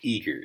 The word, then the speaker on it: Igor: Okay, but no, his name Eager. They pronounce it Eager, like happy and ready to go.